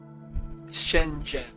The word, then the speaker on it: Shenzhen: Shenzhen, what's that Z doing in there? Can you just ignore the H? Spoiler warning. You can't. Shenzhen, like you're talking to your best friend, Jen.